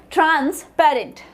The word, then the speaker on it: transparent: So here TRANS is pronounced differently, then PAR is pronounced exactly differently, and this is the primary. ये जो भी आपको capital letters में दिख रहे हैं, these are the primary syllables. Now ENT is the secondary one. So transparent.